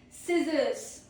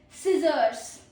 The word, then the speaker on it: scissors: Scissors. Okay, meaning is a tool used for cutting. You already know what a scissors is. A tool used for cutting. Pro tip is SC sounds like S, not SK.